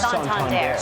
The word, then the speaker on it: Santander: Santander.